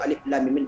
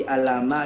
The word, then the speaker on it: alif lam mim: Pastikan dulu alif lam mim betul cara membacanya. Jadi kalau ragu Anda cara membaca, jangan langsung dihafal. Cari tahu dulu, tanya sama orang tua. Ini gimana cara membacanya ayah, ibu? Apakah alama bacanya atau bagaimana? Dan nanti Anda tak tahu, tiba-tiba nanti langsung dihafal aja. Kacau nanti kan. Bisa di alama dia, rupanya salah.